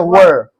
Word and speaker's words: were: इसको वेयर नहीं पढ़ते हैं, वर।